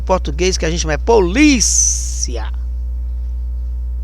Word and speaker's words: polícia: Policia, diferente do português que a gente chama polícia. Polícia é no li, né?